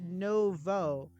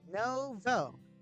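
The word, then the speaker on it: nouveau: It's pronounced Novo. Make the O sound at the end. I got it. Novo.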